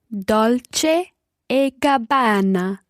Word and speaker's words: Dolce e Gabbana: Dolce e Gabbana.